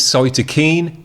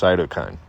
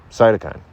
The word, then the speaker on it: Cytokine: It's Cytokine. Say it fast. Cytokine. Cytokine.